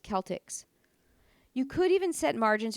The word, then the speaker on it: Celtx: One is called CELTX, which I believe is pronounced Celtics.